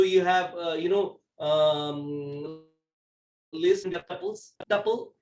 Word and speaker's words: tuple: Tuple. There is a pronunciation difference if you go to European data scientists, but overall let's call it tuple for the time being.